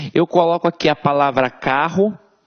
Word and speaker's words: carro: Eu não falo carorô, eu falo carro. Então esses dois R's aqui têm um som de R forte.